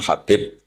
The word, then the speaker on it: Habib: Ada yang nulis Abi Abdurrahman Habib Asulami. itu di harakatnya kitab itu ada yang nulis hub yang benar. Oh, nggih. Yang benar itu bacanya habib.